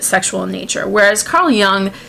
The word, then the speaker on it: Jung: Now, Carl Jung, or Jung if you want to do the American pronunciation, but we'll go with his native one of Jung.